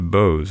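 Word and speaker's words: Boz: but later explained that it was factiously pronounced through the nose and became both boses and then they shortened it to Bose I guess it's Bose not BOS Bose now um this writer also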